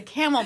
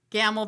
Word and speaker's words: Gammell: excited it's um Jessica she did tell us it rhymes with camel and I was gonna say camel Bennett but that's not right so Jessica gamble Bennett and we're we're